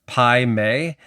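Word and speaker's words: Pai Mei: For this first comment, you need to know that uh I I think it's pronounced Pi May.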